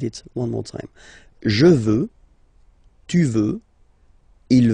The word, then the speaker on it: veux: Vouloir, first person, je veux, final X not pronounced. Je veux. Tu veux, final X not pronounced, the same form.